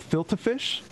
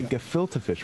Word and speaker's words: gefilte fish: uh what is uh how do you pronounce it they can get filter fish yes you got it right you got it right okay gefilte fish we're gonna have to